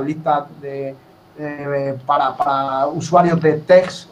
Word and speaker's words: TeX: de para usuarios de TEX o TEG, que se parece que se pronuncia así, en castellano, y yo veía que este hombre pues hacía unas cosas tremendas, ¿no?